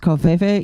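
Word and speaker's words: covfefe: Anyway, is it pronounced Kofefe?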